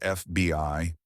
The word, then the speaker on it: FBI: so a is used an FBI agent FBI is pronounced FBI so the first sound is a vowel and an is used a NATO representative NATO